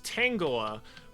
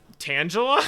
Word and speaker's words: Tangela: I think it's I always pronounce as Tangala, but recently I've I've heard that it's like Tangela.